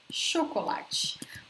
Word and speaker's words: chocolate: Bolo, torta, chocolate. We write the same way as in English, but notice the pronunciation is different. Chocolate, chocolate.